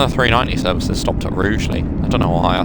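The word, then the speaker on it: Rugeley: This is Rugley or Rouely rather. Rouely Trent Valley. I think it should be pronounced Rugly personally. You know, say it how it's spelled. Rugly.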